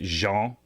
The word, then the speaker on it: Jean: it was ESPN pH they actually had pronunciation like blue jeans which I thought was